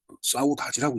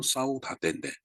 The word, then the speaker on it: saudade: 카톡으로다가 SAUDAD를 뭐라고 읽냐 그랬더니 사우다지라고 읽는다고 그러더니 사우다지. 글쎄 영어로 보면은 사우다데인데 포르투갈어로는 사우다지라고 읽는 말입니다.